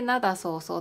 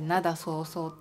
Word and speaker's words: 涙そうそう: だったんです沖縄でなだそうそうって泪そうそうってかえってなだそうそうって読むんですよねそれは